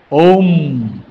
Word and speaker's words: ওম: ওম উচ্চারণটা এইরকম। ওম অ ম মে মেদিনীপুর বিদ্যাসাগরের দেশ।